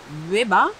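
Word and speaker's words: Łeba: Genau, wir melden uns aus Leba. Mhm. Das heißt eigentlich geschrieben L-E-B-A, das ja. L hat einen Strich durch. Genau. Strich durch heißt? Irgendwie wird es dann ausgesprochen wie ein W.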